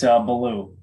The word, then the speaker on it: Beaulieu: It's Baloo. It was. How about see? That? Huh? Yeah. Baloo.